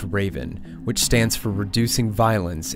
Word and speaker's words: RVN: They called the redeployment Operation RVN, pronounced Raven, which stands for Reducing Violence in Our Neighborhoods.